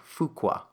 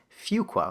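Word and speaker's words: Fuqua: was in this industry, I always used to mispronounce it. I would say um like fukqua, you know, and and then I, you know,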